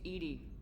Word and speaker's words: EDI: Why are you named EDI? Ed is the phonetic pronunciation of EDI.